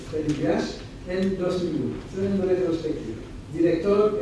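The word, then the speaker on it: Freddy Buache: Según las palabras de Freddy Buach, que tienen en la hoja, probablemente lo van a pronunciar Freddy Buach, pero es Freddy Buach, en 2001, en retrospectiva.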